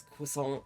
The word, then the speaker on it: croissant: um but the argument over how to pronounce croissant uh and it was specifically taking aim at Americans and it was like it's Quant it's not you know like and I'm like